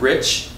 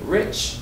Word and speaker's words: rich: good let's try again we also have Rich and reach can you give me rich rich versus reach Rich good now let's try